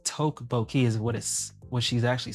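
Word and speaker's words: 떡볶이: I just looked up how to pronounce that last stream. Tabaki?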